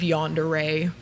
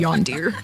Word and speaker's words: yandere: John Deere. John Deere or That's probably how my mom would pronounce it. That's how most people's moms have pronounced it.